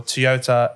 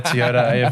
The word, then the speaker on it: Toyota: And that, ladies and gentlemen, wraps up the 2024 Toyota AFL Premiership season. I don't know why I had to bring in the Toyota AFL Premiership season part in there, but it just feels official.